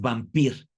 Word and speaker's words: Wampir: se llamaba el conde Wampir, Wampir con W, ¿no? Porque acuérdate, la W en Europa se pronuncia como B, es vampir.